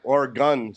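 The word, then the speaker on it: Oregon: said now I know how to say it or gun state or gun so I know how to pronounce it right they don't like guns oron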